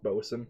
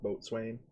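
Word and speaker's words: boatswain: of english is weird it's pronounced boson not boat swain boson wait what which is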